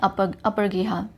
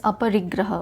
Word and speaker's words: aparigraha: Jainism का meaning together you कैन से, Jain teaching include ahimsa, aniketvad and apargriha. Sorry, it is aparigraha. Okay, sorry for my pronunciation.